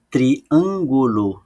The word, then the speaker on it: triângulo: o acento triângulo e a sílaba tônica não é a última nem a penúltima é a anti penúltima então eu escrevi anti